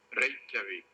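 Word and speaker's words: Reykjavík: Torres leaves, I wish he'd do me one great favor and tell me how he pronounces the capital of Iceland. Reykjavik. Reykjavik?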